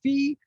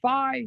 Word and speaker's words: phi: can call a phi so it's like pi but it's ph that's what and it's